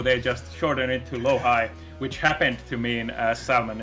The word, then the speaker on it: LoHii: Do you pronounce it LoHii or Me LoHii? too. It's LoHii.